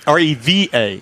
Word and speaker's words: Reva: Reba, like is in Reba McIntyre? R-E-V-A. Oh, Reva.